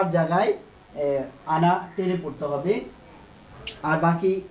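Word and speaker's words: أنا: আনা, এটা এটা আলিফের লেখার সময় আসবে কিন্তু উচ্চারণের সময় আসবে না।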